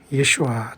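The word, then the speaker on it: ישוע: 뿐만 아니라 그 하나님의 아들 예수 그리스도는 하나님은 구원이시다라는 뜻을 갖고 계신 예수라 하라, 예수와 또는 영어로 지저스 또는 한국말로 예수지만 가장 가까운 발음은 히브리어로 이것도 예수와라고 하는 게 낫고 구약에 스스로 계신 하나님은 예후슈아, 아들 예수님은 예수와, 예후슈아, 예수와.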